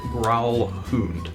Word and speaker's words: Gralhund: the uh pronunciation guide It's grow hund gr hund H Hound it's not a what it's a hood I thought it ended with an n Hound with a d ends with a d